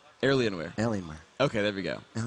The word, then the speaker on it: Alienware: to the Finish L Alienware Alienware okay there we Goen pronunciation helps indeed there's an r in there randomly it was kind of weird myself Rivington the third